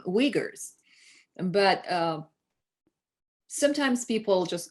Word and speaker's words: Uyghurs: sometimes they ask me is it uyghurs or weigers and i really appreciate that and i say thank you for asking it's uyghurs and if they mispronounce